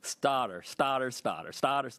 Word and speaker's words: Stouter: I'm the only one that says it right. Stouter, like Stouter, bro, Stouter.